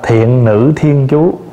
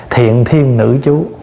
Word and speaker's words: Thiện Nữ Thiên Chú: Quý vị nhớ là mình phải đọc là Thiện Nữ Thiên Chú, chứ không có đọc là Thiện Thiên Nữ Chú.